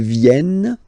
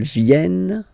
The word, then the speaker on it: viennent: Ils viennent, elles viennent. Ils viennent, elles viennent. All right? E-N-T, you don't pronounce them.